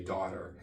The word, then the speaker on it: daughter: So this one is actually a very easy word to say, daughter, rhymes with water, very easy.